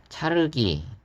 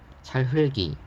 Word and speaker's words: 찰흙이: 차르기, 안팎을, 너기, 끝을, 수배 이런 발음이 아니라 찰흘기, 안팎을, 넋이, 끝을, 수패 이렇게 발음을 해야 된다라고 알려주고 있습니다.